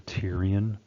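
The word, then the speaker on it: pterion: the sagittal sutures the Tyrion that p is silent so it's the Tyrion suture is the junction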